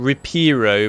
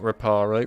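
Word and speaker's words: Reparo: have done right we're about to learn repero by the way not raparo rapero according to this game hi mate there you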